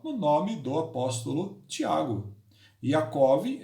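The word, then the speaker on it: יעקב: O nome de Jacó no original hebraico é Yaakov. Yaakov.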